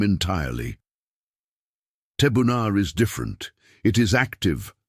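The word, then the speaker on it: תבונה: The word is pronounced tabuna.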